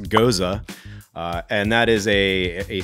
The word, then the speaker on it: gose: So, it is pronounced gohz-uh and that is a a slightly sour beer.